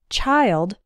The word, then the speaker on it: child: is with the word child singular and children plural the vowel sound of the I changes the i in child is like the I sound in while and smile child but the I